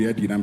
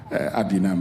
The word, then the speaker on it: Edinam: Okay, for those who don't get it, the Speaker somewhere in 2019 was questioning the pronunciation of the name, whether it's Adinam or Edinam, saying, oh, in our land it's supposed to be Edinam. He doesn't understand why that should be Adinam, but I'm sure for